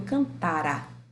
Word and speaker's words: cantara: No mais que perfeito eu falo, eu cantara. Olha onde está a sílaba tônica. Cantar. Está no tá.